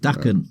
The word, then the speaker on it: Daken: Forgive me if I pronounce it wrong, but Daken. Is it Daken? Correct, Daken.